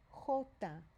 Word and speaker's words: jota: The letter J is pronounced jota. Jota. So you might want to go ahead and put an H right here to remind yourself it's not a J sound right there. Okay? Jota. And the J sounds like the English word hot.